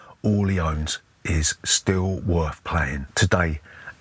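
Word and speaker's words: Orléans: medieval bag building game called Orleans, or Orleans as we like to say because we're English and we're not going to pronounce the French load of nonsense.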